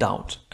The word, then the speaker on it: doubt: لا ننطق ب، قول doubt، الشك.